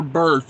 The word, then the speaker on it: berth: No, sleeper berth. It's spelled B-E-R-T-H, I do believe.